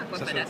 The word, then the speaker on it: Aquafadas: J'ai comme invité aujourd'hui à Claudia Zimmer, CEO de l'entreprise Aquafada. C'est ça, Aquafada. Ça se prononce comme ça.